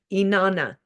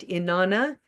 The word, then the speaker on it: Inanna: Her name is Inanna, and Inanna is, let me tell you, it's spelled I, da, da, da, da. I want to get it right. Inanna.